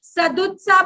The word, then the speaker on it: सदुत्साह: Next, उसमें सदुत्साह की मात्रा अधिक थी। सद उत्साह, इस वर्ड को देखो, प्रोनाउंस भी करना नहीं आता बच्चों को ये वाला, सदुत्साह बोलते हैं इसको।